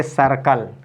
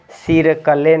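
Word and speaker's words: circle: क्या पढ़ेंगे इसको पढ़ेंगे सर्कल क्या पढ़ेंगे सर्कल इसको ऐसे नहीं पढ़ेंगे सिर कले नहीं पढ़ेंगे सिर कले नहीं है ये है आपका सर्कल ठीक है ना इसको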